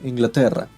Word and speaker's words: Inglaterra: Yeah, we don't say England. We say Inglaterra. Yeah. Inglaterra? Yeah, I'm butchering Inglaterra. this. I'm so sorry. No, that was pretty good. That was pretty close. Like, can you roll your R's like that?